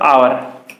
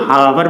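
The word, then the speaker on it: hour: I have been writing for खाली जगह आवर, ठीक है, इसको लोग हावर पढ़ते हैं, तो हावर नहीं होता, इसका प्रोनाउंसिएशन होता है आवर, ठीक है, अवर नहीं,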